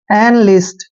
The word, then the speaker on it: enlist: Next है ENLIST, देखिए यहाँ पर भी ई का उच्चारण हम ए करते हैं, और एन को न पढ़ते हैं, यानी एन पढ़ेंगे, इसको इन नहीं पढ़ना है, एन पढ़ना है। और एल का उच्चारण ले करते हैं, आई को छोटी की मात्रा पढ़ते हैं, एस को आधा से पढ़ना है, और टी को टे पढ़ते हैं।